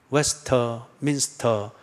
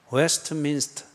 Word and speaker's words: 웨스트민스터: 근데 발음을 웨스트민스터 그래 하지 말고 그거는 한 단어니까 웨스트민스터 소요리 문답.